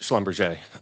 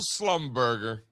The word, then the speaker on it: Schlumberger: Yeah, and then so Richard, again, it's actually not pronounced Schlumberger. We know this. We talk about this on here all the time. It's the old Slumberger. Schlumberger. That's how you say it, actually.